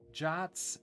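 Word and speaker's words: JWT: handling it yourself yeah jason webb tokens often pronounce jots um which i thought was weird but i've now gotten used to it okay so i need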